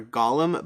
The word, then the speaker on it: golem: played as a golem i think it's golem golem golem i don't know it depends on which pronunciation you're using in hebrew it's more of a gollum but i think typically people use a golem but either way a